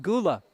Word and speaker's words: Gulla: I told Mike before the game, he pronounced his name Gulla. I said, Franklin has a football player spelled the same way, but he pronounces it Gula. I think it's spelled the same way. I'll have to check on that. He said, well, I'm Mr. Gulla.